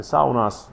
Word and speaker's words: sauna: It's not pronounced sauna, it's pronounced sauna. It's actually one of the only words from Finnish language that traveled the world, sauna, and is mispronounced as sauna. It's sauna, folks, sauna.